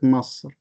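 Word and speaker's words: مصر: So the people from Egypt, they do not pronounce it Misr, they pronounce it Masr.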